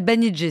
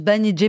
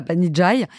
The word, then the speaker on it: Banijay: voilà euh on s'appelle banij ça se prononce banij pas Banijay et on va devenir